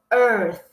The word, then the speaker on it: earth: Ó, sempre que tiver o TH em inglês, a gente vai ter que posicionar a língua entre os dentes e dar um pequeno soprinho, tá?